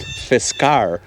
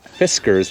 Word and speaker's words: Fiskars: do you say that it's pronounced fiskar not fiskars like a cute cat food and how do you